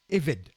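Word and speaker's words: עבד: ça s'écrit ben mais ça se prononce et rêve le B se prononce comme un V hein lorsqu'il y a un point dans le bê on prononce B lorsqu'il y a pas de point on pronce ve par par exemple on dit pas Abraham on dit Avraham allez là le serviteur c'est eved d'accord que les orguees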